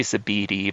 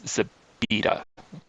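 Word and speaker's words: Zepeda: I used to say Zabidi, but it's Zabida. You know, DA.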